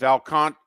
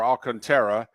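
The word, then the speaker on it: Alcantara: my pitching you know if alcantra or alcanta I pronounce it alcantra okay if he comes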